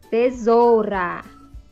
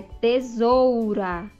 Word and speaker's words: tesoura: de outra maneira caixa muitas vezes nós falamos caixa é mas a maneira correta é caixa então muitas vezes